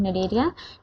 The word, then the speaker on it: Cnidaria: सी यहां पे साइलेंट होता है। ठीक है? इसको पढ़ते हैं हम निडरिया ड्यू टू the presence of a special cells cnidoblast.